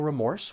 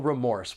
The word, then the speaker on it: remorse: You might feel remorse when you buy a new phone just before they announce an upgraded model. When pronouncing this noun, there are two syllables and the stress is on that second syllable.